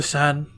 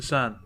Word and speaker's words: Seine: The Seine, that's how you pronounce it. The Seine.